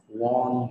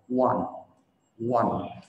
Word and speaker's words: won: Từ số 10 mọi người hay đọc là won, đúng không? Won, đây là quá khứ của từ win. Win là chiến thắng, còn từ chiến thắng ở trong quá khứ thì đọc là won. Giống như là 1, 2, 3 vậy, 1, 2, 3.